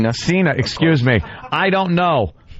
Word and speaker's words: Cena: Is that pronounced Cena? Cena.